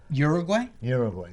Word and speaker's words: Uruguay: I've had them from Russia, Ukraine, Uruguay, is that how they pronounce it? Uruguay or something like that? Uruguay, yep.